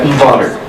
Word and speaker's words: Botter: Botter. Botter, not batter. Botter.